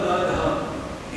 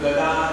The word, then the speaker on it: गदा: से मतलब क्या है साउथ इंडिया में द थ द ध एक ही उच्चारण है जैसे ख ग घ चारों का एक ही उच्चारण है उसी प्रकार से त थ ग ध इसका भी एक ही उच्चारण है तो ओम गदा धराय नम उसके जग कहते है ओम गधा धराय नम भगवान के हाथ में गधा दिया भगवान के हाथ में गधा